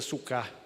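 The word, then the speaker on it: סוכות: Aí vem a palavra tabernáculo quer dizer a palavra sucote, que, se não me engano, se pronuncia sucá.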